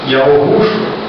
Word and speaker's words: Yahushua: A pronúncia você pode muito bem pronunciar Yaorushua, você pode pronunciar Yahushua, né? Quanto à pronúncia, ela está dentro de uma semântica do idioma hebraico. Você pode pronunciar dessas duas formas, o que na realidade